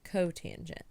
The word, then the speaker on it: cotangent: And then we have COT, which is the reciprocal of tangent, which is pronounced cotangent.